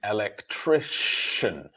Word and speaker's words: electrician: However, when we talk about the person's job, it is electrician. So the C in the word becomes a sh sound.